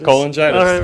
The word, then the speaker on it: cholangitis: He has research interests generally in viral hepatitis, liver transplantation, and something I can't pronounce. Primary sclerosing. Oh, yeah, that's right. You're doing fine. That? Cholangitis. Cholangitis.